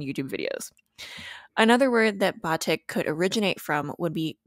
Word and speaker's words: batik: you might be wondering why nicole and i are pronouncing it as batik instead of batik or batik the latter is just another instance of a foreign word being westernized or anglicized kind of like nicole